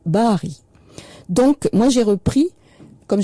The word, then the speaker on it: Barry: Mais ajouter un R, un double R et mettre un Y, ça ne change rien à la prononciation tirée de l'arabe, Bahari.